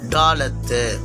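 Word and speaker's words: דלת: இதன் பேர் டாலத்து. டாலத்து.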